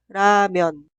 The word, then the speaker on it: 라면: Se pronuncia 라면, 라면, 라면.